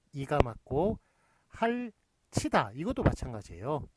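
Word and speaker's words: 핥이다: 티읕이 뒤로 넘어갔을 때는 예, 그렇게 할치다로 그렇게 발음이 됩니다. 예, 구개음화가 일어나서 할치다로 구개음화가 일어나서 할치다로 발음이 됩니다만 그렇지만 쓰는 거는 할티다 이런 식으로 써줘야 맞는 것입니다.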